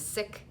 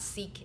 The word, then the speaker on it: Sikh: The correct pronunciation is Sikh and Sikhism, not Sikh and Sikhism.